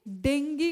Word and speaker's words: डेंगी: होनी चाहिए किसके लिए डेंगी को टैकल करने के लिए ठीक है जी डेंगी भी डेंगी प्रोनाउंस करते हैं वैसे से नॉर्मल टर्म्स में हम डेंगू बोलते हैं तो डेंगी को